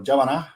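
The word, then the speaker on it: Djapana: And if you're a fan of Yothi Indi, you will know that Japana or Javana, as I call it, as Javana, is sunset dreaming.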